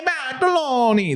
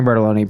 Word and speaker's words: Bartoloni: What's the right way to say your name? Bartoloni. You could just say it normal. You don't need to say it in an Italian way.